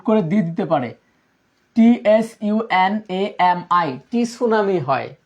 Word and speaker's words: tsunami: TSUNAMI, টি সুনামি হয়, টি সুনামি, বানানটাও গুরুত্বপূর্ণ কিন্তু, টি সুনামি। সুনামি আমরা স্বাভাবিকভাবে কি এস দিয়ে উচ্চারণ করবো, বাট এইখানে কি টি সুনামি এইভাবে উচ্চারণ হচ্ছে, ঠিক আছে।